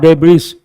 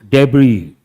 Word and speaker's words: debris: And here you have to remember the letter S is silent. So how do you pronounce that? Not debris, debris.